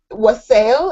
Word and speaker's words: wassail: All right, I have to stop at this one because you have the WTF is wassail.